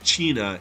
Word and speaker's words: cena: Any Italian speakers would have noticed an additional layer to the joke too, because Cena is pronounced Cina in their native language, and it actually means dinner.